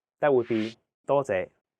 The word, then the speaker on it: 多謝: 多謝. Your turn. 多謝. The first character is in high flat tone, first tone. It means many.